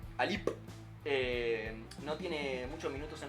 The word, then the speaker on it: Alip: Y actualmente en Rusia es suplente, está siendo relegado por el kazajo Nurali Alip, espero pronunciarlo bien. No tiene muchos minutos en Rusia. Me gustó el acento en la P. Alip.